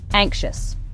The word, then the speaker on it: anxious: Anxious.